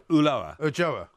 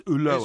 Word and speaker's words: Ulloa: Ulloa. No, it's Ulloa. It's pronounced Ulloa. Well, okay. Well, he's Argentinian. You want to pronounce it Ulloa, that's fine. Well, that's how he pronounces it.